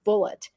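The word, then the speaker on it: Bulleit: bullet Rye but that that brand of alcohol is pronounced bullet so um that's also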